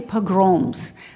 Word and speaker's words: pogrom: having had so many pogroms you might say pogroms because english language to me always starts with accents in the first syllable of course it's syllable in my language and so uh he